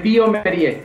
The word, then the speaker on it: bioMérieux: Es Biomerie, el nombre de mi empresa. Biomerie. Biomerie es la que pronunciación correcta.